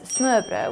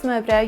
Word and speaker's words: smørrebrød: To pronounce smørrebrød, you want to say smør. It literally means butter, bread, or buttered bread.